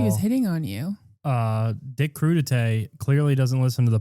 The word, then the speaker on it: Crudite: Dick? This is Dick Crudite. Oh, Crudite.